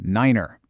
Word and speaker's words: niner: And finally, the number nine becomes niner. This one's done for two really important reasons. First, it makes it sound completely different from five.